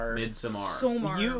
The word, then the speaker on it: Midsommar: I think I saw You pronounced it wrong. Midsommar.